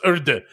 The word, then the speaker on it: URDE: No official pronunciation. Just say the letters. No, it's Urde. Look at me. It's Urde now. I am the Urde now.